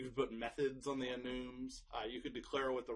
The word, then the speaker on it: enum: Some people pronounce them enums. I like enums because it's short for enumerated type.